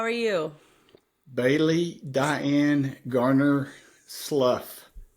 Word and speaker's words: Slough: Well, not if they've met your grandfather, my father, who says slough rhymes with plow. But I get called, Slough.